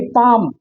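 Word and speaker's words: palm: आ रहा होगा क्योंकि पाम पलाम नहीं हाफ हाल्फ नहीं बहुत सारे बच्चे इसको हाल्फ पढ़ते हैं हाल्फ नहीं होता क्योंकि एफ से पहले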